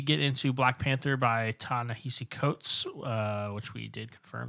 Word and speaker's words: Ta-Nehisi Coates: so before we get into black panther by tan nahisi coates uh which we did confirm that is how you pronounce their name um drew what you been